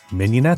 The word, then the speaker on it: mignonette: We know, it looks like it would be pronounced, MIG-NON-ETTE but one way to remember to pronounce it correctly is to think of a Filet Mignon.